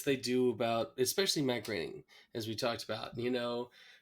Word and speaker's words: Groening: For me, it was like, oh, Matt Groening, it rhymes with raining.